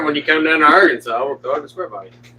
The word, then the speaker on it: Arkansas: truck it would be going in is in Arkansas or Kansas." Arantis. So then pick up the motor when you come down to Arkansas.